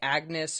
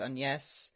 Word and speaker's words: Agnes: Greer writes that Anne was actually a shortening of what we usually say Agnes or sometimes pronounced Aness that she was listed